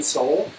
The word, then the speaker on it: Sol: So if you go to our Facebook page, which is just Western Soul, it's spelled S-O-L.